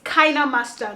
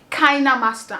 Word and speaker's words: KineMaster: actually found out that the pronunciation is actually KineMaster and not KineMaster.